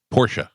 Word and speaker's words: Porsche: Porsche. Anybody else? Porsche. Porsche. Porsche. It's Porsche. It's actually Porsche. It's two syllables. Not Porsche. Porsche.